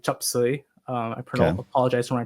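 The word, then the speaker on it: 雜碎: Um and so in Cantonese, it's pronounced like chupsuy.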